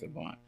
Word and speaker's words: Avant: Yeah, Clarence Avant. Some people say Avant, but it's Avant. It's pronounced Avant.